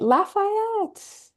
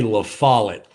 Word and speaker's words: La Follette: All right, Lafayette. Lafayette. Tennessee, Brian, how do I pronounce the city which you're in? I am not that great. That would be La Follette. La Follette, just as it's written.